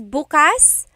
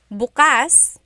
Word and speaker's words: bukas: If you say bukas, bukas, the emphasis is on the second syllable. That means open. If you say bukas, bukas, emphasis is on the first syllable, that means tomorrow.